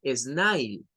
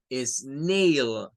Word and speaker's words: snail: luego tenemos un caracol no se dice snail se dice es Neil porque el sonido aparece